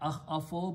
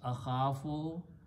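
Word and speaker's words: أخف: a weak letter, so we change the sound of that into a sound of alif. And we pronounce not akhafo, but to make it easy on the tongue, we pronounce akhafo. So this word becomes akhafo.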